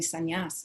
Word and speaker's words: sannyas: And I said, oh, Pishima Amar Swami Sannyas. My husband has taken sannyas. That's how you say it in Bengali.